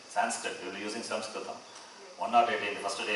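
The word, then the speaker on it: संस्कृतम्: Samskritam, not, and you can see the board. Samskritam, not Sanskritam, that is wrong. And Sanskrit, anglicized word. So that is accepted. Okay, Sanskrit. People who don't know, we can say Sanskrit.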